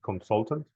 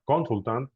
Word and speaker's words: consultant: Remember the pronunciation? Audio. Audio training. Anyway. Any other question? Any other doubt? There's more. What about consultant? It's not consultant, no.